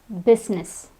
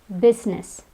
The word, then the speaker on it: business: Another word is business. Business. It's not business, it's business. Here, the I is silent.